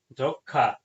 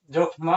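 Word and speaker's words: যক্ষ্মা: যো খা যখ মফলা যক্ষা মফলা থাকার জন্য আপনারা এটি জখমা বলবেন না জখমা বললে ভুল হবে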